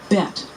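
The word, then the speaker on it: בית: a in apple olive bet which is pronounced b as in boy or v as in Victory native speakers know which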